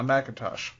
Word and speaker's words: McIntosh: That loud voice is my co-host, McIntosh. It's Macintosh. Macintosh.